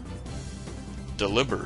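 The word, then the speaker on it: Delibird: say them you know people would say you should say deliber or deliber right because it's like it's supposed to rhyme with delivered because he's a delivery bird so delivered so it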